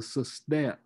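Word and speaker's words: sestet: octave the final six lines are called the system the system that's spelled s-e-s-t-e-t the system and that's when usually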